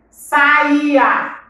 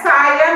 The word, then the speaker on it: saía: Saía. Saía. Não é saia, não. É saía. Eu saía cedo para comprar pão. Tá? Esse é um exemplo de frase, tá? Então, a palavra é saía.